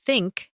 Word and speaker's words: think: Put your tongue gently between your teeth and blow air out for the.